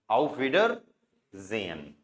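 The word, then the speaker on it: Auf Wiedersehen: कैसे साउंड करेंगे इसको आउ डब्लू का व आईई का ई डी का ड ई आर एंड में आए तो अर आडर एस का साउंड ज ई का ए ए साइलेंट रहेगा न का अनन आउ विडर जेन ठीक है तो इसका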